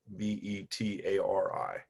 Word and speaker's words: Betari: And this is what's called the Batari box. Rhymes with Atari, but with a B. Betari. This is the Batari box.